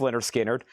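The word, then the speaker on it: Lynyrd Skynyrd: And then I've got Leonard Skard, pronounced Leonard Skard, also $59.99.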